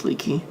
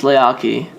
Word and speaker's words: Leakee: Next up, is it pronounced Leakee? No, it's not pronounced Leakee. It's pronounced Leakee. That's probably one of the biggest questions that we get is Leakee. Everyone thinks the title is called Leakee, but it's not. It's called Leakee.